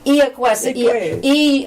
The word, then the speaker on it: Iacuessa: And I know a man in Orleans who's Italian, and when I go in, he goes, he pronounces it the Italian way. Iacuessa.